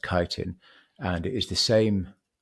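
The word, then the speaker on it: chitin: The the the building block of a mushroom is is is a compound called kitin. It's actually written c hi t i n chittin, but it's actually pronounced kitin.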